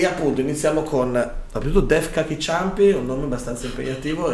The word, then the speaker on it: Deaf Kaki Chumpy: Dei Def Cacchi Ciampi. Correttissimo. Yeah. Ho scritto come si pronuncia di fianco apposta per essere sicuro di non sbagliare.